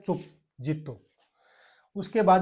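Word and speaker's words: zitto: इसी प्रकार से लिखा जाता है, आप लोगों ने इंग्लिश में देखा होगा, लेकिन इटली में उच्चारण अलग होता है, जेरो।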